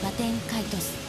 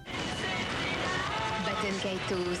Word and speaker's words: Baten Kaitos: Baten Kaitos, les ailes éternelles et l'océan perdu. The pronunciation here is closest to the Arabic origin word, Kaitus.